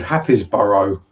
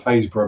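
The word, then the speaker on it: Happisburgh: lovely little town called Happisborough. I'm like, what? What do you mean Happisborough? Happisborough. So they're thinking, I'm going, what the hell? Do you mean Haysborough? Huh? Yeah, pronounce Haysborough, mate.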